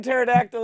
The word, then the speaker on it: pterodactyl: The P in pterodactyl is silent.